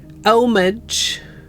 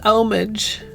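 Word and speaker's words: homage: we learned how to say the word yesterday omage a joyous omage and not otherwise hey dagget also hi birdie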